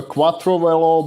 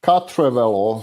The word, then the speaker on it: Quattrovelo: them uh so it's no longer a quattrovelo but it's cut trevello so it's pure french sorry for my pronunciation it's pure french name right now and uh